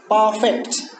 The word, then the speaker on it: perfect: For example, honest, perfect, both of which end with strong syllables but are stressed on the first syllable.